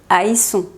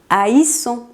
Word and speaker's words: haïssons: Como pudiste darte cuenta, la pronunciación cambia cuando no tiene la diéresis y eso es porque la diéresis sirve para separar cada vocal.